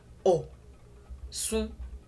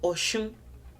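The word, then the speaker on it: Ọ̀ṣun: O, sun, o, sun, o, sun, o, sun, osun, osun, osun, or oshun, oshun.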